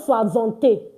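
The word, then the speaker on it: soixante: And don't forget this a is pronounced as. So don't say swazant or swazant.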